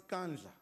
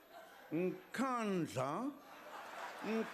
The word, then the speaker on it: Nkandla: You know, some people who could not pronounce Kandla, they've now learned Nkandla, Nkandla, Nkandla.